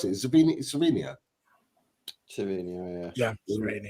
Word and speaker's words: Savinho: Savinho, yeah, Savinho. I think it's Savinho within Brazil and then Savio outside, but everyone's getting towards Savinho.